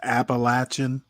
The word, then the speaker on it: Appalachian: me and said it's appalachin it can be pronounced either way folks down in Yonder